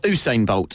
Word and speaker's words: Usain Bolt: Essex all I wants to talk about a Hugh sign bolt or who's saying bolt as it's actually pronounced I discovered the other day yeah is